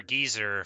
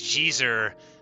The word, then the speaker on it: geezer: So, like, a proper geezer for the the Geometry Dash crowd, which humorously I pronounced as Jeezer right at the beginning of my victorious Death Moon run.